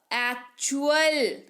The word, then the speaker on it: actual: फिर है ACTUAL। टी के बाद क्या है? UAL। उच्चारण क्या हो जाएगा? च। एक्चुअल।